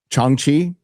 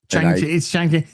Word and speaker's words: Shang-Chi: Chong-Chi?